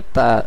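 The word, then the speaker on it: tout: সেলদবা তু তু তু যার অর্থ সবকিছু এবং বাংলাতে তু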